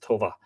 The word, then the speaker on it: Toba: Toba, T-O-B-A, which would probably be pronounced Tova.